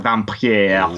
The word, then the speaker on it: Vampyre: The Vampyre, which is spelt with a Y, which means I always want to pronounce it really weird, like Vampyre. I think that's correct.